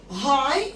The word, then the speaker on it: high: high يعني عالي ودام يعني سد، ولكن السد العالي عشان ده مشروع مهم جدا برضو بادئ كابيتال high الاتش كابيتال والجي والاتش طبعا مش بيتنطقوا، ودام برضو الدي كابيتال، فاقول the high dam السد العالي the high dam.